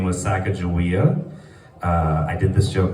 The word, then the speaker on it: Sacagawea: I'm anti-like I'm going to give the proper pronunciation even though we haven't heard it in like 200 years. Anyways, Sacagawea, it's on the $1 coin.